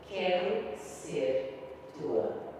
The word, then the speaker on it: Quero Ser Tua: It means I want to be yours, but you should pronounce it Quero Ser Tua.